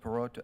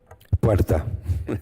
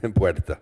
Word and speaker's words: Puerta: Perota, how do you say your last name, sir? Puerta. Puerta. It's okay, though. I understand. You can't roll the R's.